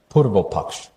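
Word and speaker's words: Purvapaksha: I hope I will pronounce it correctly. Purvopaksh.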